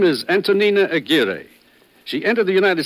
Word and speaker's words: Antonina: And I thought it was going to be Antonio, but it's not. It's Antonyina.